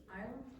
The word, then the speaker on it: island: Island. Island. What's not pronounced? S. Yes. Exactly.